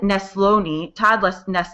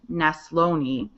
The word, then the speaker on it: Neslony: We had Todd Neslony, that's how you say his name, Neslony, was there from Texas.